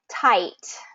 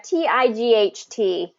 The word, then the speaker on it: tight: so in this situation we have TI G HT and really I just want to make it simple and tight okay tight so what